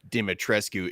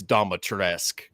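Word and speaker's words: Dimitrescu: It's not pronounced uh dimatrescue. It's do it's doatresque.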